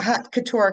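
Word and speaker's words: haute couture: pronounce that? Hot, hot. Yeah. Hot. Yeah, hot couture.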